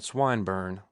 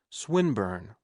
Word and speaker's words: Swinburne: swatted meant this man swine burn he began attempting to put his plan into execution and pronouncing the eye long who swine burn he repeated with the same mispronunciation the poet swinburne she corrected yes that's